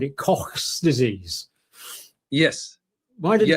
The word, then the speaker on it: Koch: No, it's Robert Koch who first identified it in the Pasteur Institute. You're talking about Koch. K-O-C-H. Yeah. Yes, you're talking about that, Cox. Well, it's my northern pronunciation.